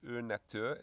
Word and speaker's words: Urnatur: It's called Urnatur, is that how I pronounce it? Correct.